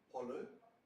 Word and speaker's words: pollo: Italian is pronouncing the L, pollo, and Germany?